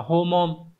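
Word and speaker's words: 訪問: 34 Các bạn có chữ Hán là chữ phỏng và chữ vấn đọc là homon Nhưng mà từ này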